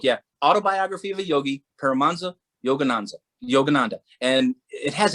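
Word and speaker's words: Paramahansa: autobiography of a yogi paramanza yogananza yogananda and it has an h in paramonza but the h is silent so a lot of people say paramahanza but his paramanda yogananda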